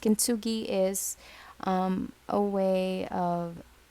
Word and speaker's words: kintsugi: this one you know kintsuge kinsuge or kenzugi i think it is how it's pronounced kintsugi is um a way